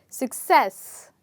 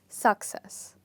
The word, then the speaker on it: success: can you guess it as you can see that the second part of the word is stressed so the word is pronounced as success and not success all right so the